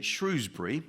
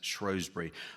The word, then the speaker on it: Shrewsbury: Opinions about how to pronounce the town's name differ. In the north of the county they tend to say Shrewsbury. To the south it's known as Shrosbury.